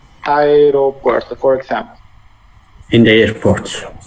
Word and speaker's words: aeropuerto: this deep tongue, and it's pronounced as the two letters separated, so it's AE. But we link it a little, no? So you can hear, if we talk pretty fast, we could say aeropuerto.